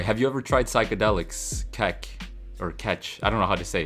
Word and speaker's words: kek: Anyway, have you ever tried psychedelics, kek?